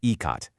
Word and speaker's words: Ikat: It's called Ecot, and that's pronounced ecot.